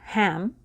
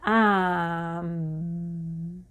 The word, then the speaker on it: ham: uh sorry the mantra the mantra is h a m ham but it's not pronounced ham it's actually more pronounced um um and as you